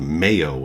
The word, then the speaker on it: Mayo: Eagle mine north of mayo in the Yukon I believe it's pronounced Mayo like mayonnaise I don't if it's